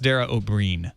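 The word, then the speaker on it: Dara Ó Briain: It's pronounced Dara O'Brien, by the way.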